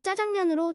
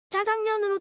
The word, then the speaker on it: 짜장면: 우리 땅에 들어왔을 때 그 이름은 우리 귀에 짜장면으로 들렸다고 합니다. 산동 사람들이 주류를 이루었던 당시 화교들의 발음대로 하면 짜장면으로 들렸고 우리도 짜장면이라고 불렀죠.